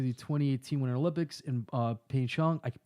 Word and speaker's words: Pyeongchang: I'm thinking about giving Vader tickets to the 2018 Winter Olympics in Pyeongchang. How you say it? Pyongyang.